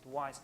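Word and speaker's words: Wwise: use is called wise it's written W wise but you usually pronounce it wise it's a very powerful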